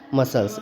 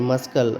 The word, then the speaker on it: muscle: मसल्स, MUS, अब देखो यहाँ पे MUSCLE, तो CLE, तो यहाँ पे C साइलेंट है, तो मस्कल, मस्कल पढ़ेंगे तो गलत, तो मसल होता है, तो MUSLE मसल हो